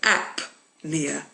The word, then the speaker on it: apnea: You don't pronounce the P. But in the next word you do. So apnea.